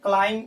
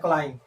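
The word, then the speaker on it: climb: क्लाइंब में भी silent है, क्लाइंब इसे पढ़ते हैं क्लाइंब।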